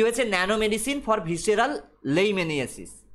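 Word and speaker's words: leishmaniasis: Nano medicine for visceral লেইমেনিয়াসিস বা লেইসমেনিয়াসিস, ওকে, visceral লেইসমেনিয়াসিস বা visceral লেইমেনিয়াসিস, ডাক্তাররা প্রোনাউন্স করে লেইমেনিয়াসিস, আমরা সাধারণ মানুষরা প্রোনাউন্স করি লেইসমেনিয়াসিস।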